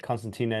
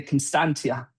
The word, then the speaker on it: Constantia: Um Constantina is the you've I'm pronouncing it wrong. Can you pronounce it again there, Sebastian? So, Constantia. Constantia um is by far the best in my opinion.